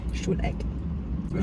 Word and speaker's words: Stuhleck: Stuhleck.